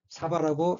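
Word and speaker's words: 鯖: 일본에서는 고등어를 의미하는 이 한자를 사바라고 읽습니다.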